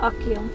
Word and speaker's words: Achill: It's part of County Mayo, one of the five counties in the province of Connacht, pronounced Achill.